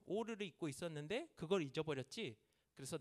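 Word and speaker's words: עור: 그리고 아담과 하와에게도 하나님께서 가죽 옷을 지어서 입히셨는데, 이 가죽 옷이 이게 그 오르예요. 오르. 발음이 오르인데 히브리어에서는 이 동음이어를 굉장히 많이 씁니다.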